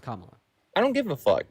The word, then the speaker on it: Kamala: So her name is pronounced Kamala.